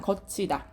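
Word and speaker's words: 걷히다: 거치다. 그쵸? 자, 이거 지금 보면은 어때요? 지금 디귿 받침 뒤에 종속적인 관계를 가진 희가 왔어요. 그쵸? 발음하면 어떻게 되니? 거치다. 소리는 치읓으로 나더라도 표기는 어떻게 한다? 디귿으로 적는다.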